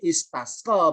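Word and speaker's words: استسقى: Kalau nggak dibaca U atau dibaca I, nggak boleh dibaca A. Kenapa nggak boleh dibaca A? Jawabannya adalah karena alifnya nggak ada hamzahnya. Ya, berarti bacanya istasqa berkata.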